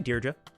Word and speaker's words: Deirdre: Pronounced Deidre as Daedre. Deirdre. I go back and forth. Deirdre. No, I say Deirdre.